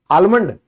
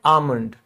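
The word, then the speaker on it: almond: जैसे बादाम को इंग्लिश में क्या कहते हैं? आलमंड नहीं ये एल साइलेंट है। इसको हम कहते हैं आमलंड।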